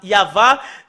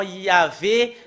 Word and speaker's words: Yahvah: Normalement, ça doit être Yahva qu'on doit le prononcer. Bah, ça a changé en Yahvé, Jéhovah ou Yahou.